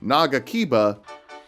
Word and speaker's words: Nagakiba: He drops the Nagakiba, one of several weapons with the same syllable emphasis as Mamma Mia by ABBA. Try it at home. Nagakiba.